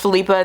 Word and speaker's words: Philippa: My neighbor who spells it this way is pronounced Philippa. They're Danish, but I also know that there's a lot of people where they pronounce it Philippa.